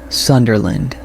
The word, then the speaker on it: Sunderland: Sunderland. Sunderland stress s u n soft rest.